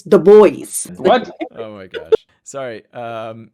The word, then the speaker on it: The Boys: It was not called the Du Bois. It's the boys.